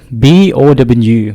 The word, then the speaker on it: บ่: เจ้าสบายดีบ่ so this word B-O-W บ่ the pronunciation is bo with the short sound bo it means a question